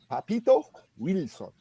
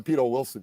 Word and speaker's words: Papito Wilson: around and get upset his name was Papito Wilson it's not the Peter Wilson you know what I'm